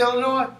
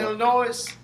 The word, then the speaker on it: Illinois: Illinois Illinois Illinois you know why we say Illinois rather than Illinois because the what because the S is is silent you say because it's French what other